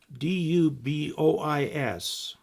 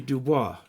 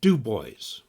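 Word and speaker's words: Du Bois: lime up limey ohio there's a place up in wyoming called d-u-b-o-i-s and normally that'd be dubois but they call it dubois with the accent on the first syllable dubois and there's a place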